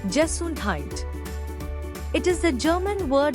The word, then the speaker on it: Gesundheit: That is a funny sounding word which is pronounced Gesundheit.